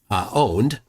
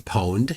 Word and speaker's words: Pwned: All of the passwords for his users are now on Have I Been Owned or Have I Been Pwned, depending on how you want to pronounce it.